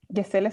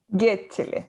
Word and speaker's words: Gecele: Gesele se pronuncia, ¿no es cierto? En verdad, No, no, pero a mí me da lo mismo, a mí me da lo mismo, pero es Yechel, Getchele.